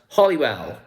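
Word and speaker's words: Holywell: well involved okay so holy well but it's pronounced hollywell right till then let's get in gang go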